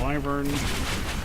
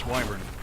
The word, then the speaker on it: wyvern: we go a wyvern for decades I was pronouncing that and then I was hearing somebody was calling it live earn somewhere and I was like they're full of